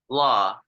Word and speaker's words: law: 20 years freezer prison law law the W is silencer law so you don't pronounce the W just like law uh and so no